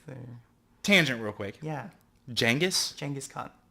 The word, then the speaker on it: Genghis: So the real answer is that syllable in Mongolian doesn't translate. It doesn't exist. Doesn't exist. So as I understand it, it's somewhere between a CH and a soft G.